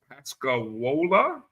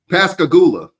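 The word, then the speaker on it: Pascagoula: native of Mississippi pasca did I say that right uh you you got me on that one spell it P a s c a g o u l a pasaa okay all right I I was down on the G Coast I was off a syllable uh yeah he he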